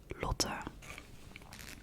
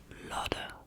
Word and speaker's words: Lotte: Here they pronounce my name as Lotte, which I think is quite different than my own, but you know, you just gotta go with it.